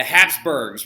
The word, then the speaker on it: Habsburg: Habsburg family now notice I spelt it with a P so you can understand how to pronounce it it's actually spelled with